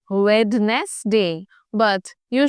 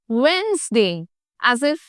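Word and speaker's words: Wednesday: a very simple one बट many of us pronounce it एस वेडनेसडे बट यू should call it वेनसडे एस इफ द D dozen exist in the middle the डी rim silent यू don't call it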